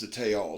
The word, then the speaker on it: Tayal: perfect thickness it is a damn good slicer i believe it's pronounced the tail t-a-y-a-l it has a big